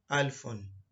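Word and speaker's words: ألف: And the first letter is Alif. If you want to pronounce the name in full, it is called Alfon. And the sound for Alif is A. Most of the sound of the letter are in the name.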